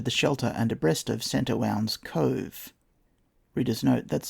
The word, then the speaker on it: St. Warna: We soon, however, are under the shelter and abreast of St. Owen's Cove. Reader's note, that's spelt St. Warna, W-A-R-N-A, but there is a pronunciation note in a later chapter.